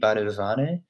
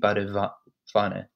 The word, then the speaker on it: Badewanne: Remember, W is pronounced, it's not pronounced as a W in English, it's pronounced more like a V. Not completely like a V. You wouldn't say die Badewanne, you would say die Badewanne. So it's not like a strong V, but between a W and a V, if that makes sense.